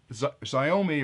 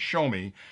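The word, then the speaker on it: Xiaomi: this quad is that zomi or a shomi I always mispronounce that because it sounds like it should be zomi but it's show me has a couple of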